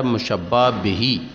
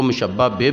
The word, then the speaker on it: مشبہ بہ: کھڑی زیر ہوتی ہے، تو اس لیے اس کا اصل تلفظ ہے مشبہ بہی۔ اس کو مشبہ بے بھی پڑھ لیں گے تو کوئی غلطی نہیں ہوگی۔ جیسا کہ آپ کو پتہ ہے ہمارے برصغیر میں 2 لہجے چلتے ہیں عربی کے، تو اس لحاظ سے اسے مشبہ بے پڑھ لیں یا مشبہ بہی تو دونوں تلفظ درست ہوں گے۔ تیسرے نمبر پر ہے